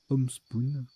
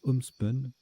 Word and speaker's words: homespun: Homespoon. Pardon, ça se prononce homespun.